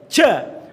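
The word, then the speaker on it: ج: Ja, ja. Maka ketika mengucapkan ja itu kurang tepat. Harus tertahan, nafasnya tertahan betul. Ja.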